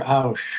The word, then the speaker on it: Ochs: You have large companies like Walmart, for example, and there's a gentleman in Kansas by the name of Peter Ausch, whose last name is spelled Ochs.